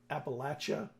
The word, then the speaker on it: Appalachia: the Fall Tallis the upcoming the gods of Appalachia I think I said it right yes you